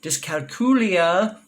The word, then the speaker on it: dyscalculia: and found this word dyscalculia or if you're in Europe does calculia I'm in America so please forgive my American pronunciation all right people often ask